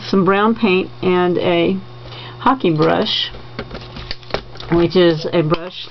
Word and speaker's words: Hake: brown paint and a hockey brush, which is a brush like this, and some of you may know it as a Hake brush. It's spelled H-A-K-E, but it's a hockey brush.